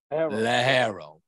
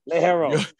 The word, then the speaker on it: ligero: Let's practice the word Ligero. Ligero. Practice the word. Ligero. If you're going to be in the cigar business, my brother, you damn well better say it correctly, and they're going to push you out the door.